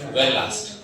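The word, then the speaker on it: Verelst: इसके बाद कौन आया सर, वेरी लास्ट।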